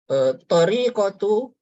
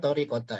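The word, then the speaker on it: طريقةُ: Tariqatu, bukan tariqata ya. Karena dia sebagai khobar dari inna. Ini isimnya, ini khobar.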